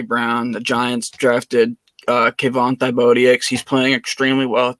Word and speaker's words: Thibodeaux: How do you pronounce it? Thibodeaux.